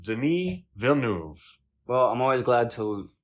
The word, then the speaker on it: Denis Villeneuve: And his name is Denis Villeneuve. Okay. Denis Villeneuve. Denis Villeneuve. Well, I'm always glad to learn how to pronounce names properly because I don't like to insult people like that.